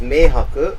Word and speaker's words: 明白: It's pronounced meihaku with those exact characters, except that you don't use it to say as a verb for to understand.